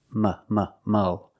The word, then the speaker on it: mull: Mull is the verb, and it is pronounced with the short sound, like cup and up. Mull.